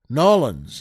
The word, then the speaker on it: New Orleans: and the Big Easy New Orleans or nollans as they more likely pronounce it down there Oh folks it's